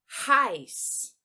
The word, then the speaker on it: heiß: Outra questão, aqui o EI que eu marquei em verde, ele vai ser pronunciado com som de AI no idioma alemão, tá? Então, eu vou dizer heiß, heiß, heiß.